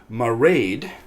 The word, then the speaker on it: Mairead: I've checked the pronunciation it rhymes with parade Mairead she intrigued me and